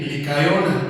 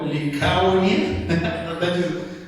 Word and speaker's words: Licaonia: ad derbe ciudades de licona licona licona Cómo dice Li licaonia está difícil de pronunciar licaonia y a toda